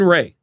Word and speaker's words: Rea: Yeah, Rea as in like when my wife divorced, she was an X-ray.